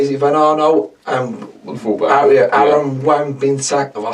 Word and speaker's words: Wan-Bissaka: Aaron Wan-Bissaka. Have I said it right? Wan-Bissaka.